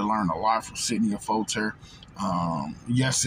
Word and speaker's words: Affolter: They can definitely do to learn a lot from Sydney Affolter. Yes, it's Sydney Affolter, because some people say, I've heard Affolter, Affolter, it's Sydney Affolter.